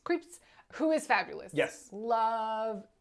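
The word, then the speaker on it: Krieps: Vicky creeps oh that's how you say it creeps creeps who is fabulous yes love Vicky creeps I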